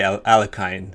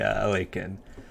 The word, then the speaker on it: Alekhine: lot of westerners and i used to say alakine myself but i'm trying my best to be a little more cultured and say awaken but yeah you'll definitely hear different pronunciations of his name but actually there's no consensus so definitely i don't think there's really a wrong way to pronounce the name so uh 97 now